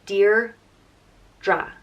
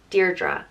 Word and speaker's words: Deirdre: of the sorrows and it's pronounced dear DRA Deirdre so where the meaning